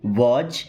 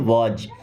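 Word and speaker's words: was: वाज डब्ल्यू ए एस। इसे वाज़ नहीं पढ़ते। क्या पढ़ते हैं? वाज।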